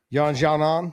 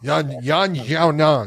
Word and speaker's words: Yan Xiaonan: Yan Xiaonan. Yan Xiaonan.